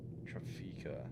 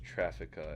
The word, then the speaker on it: Trafika: Trafika. It's pronounced Traffica, I think.